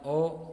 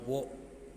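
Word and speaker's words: を: sini ada kata benda o kata kerja transitif nah kata kerja transitif itu perlu diketahui minasang kata kerja yang membutuhkan objek ha Nah di sini ada partikel wo Tapi dibacanya O ya ini hiragana wo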